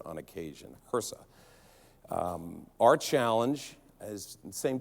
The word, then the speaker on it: HRSA: we're big into acronyms it's hersa think of her son okay that's how I will pronounce it on occasion hersa our challenge has the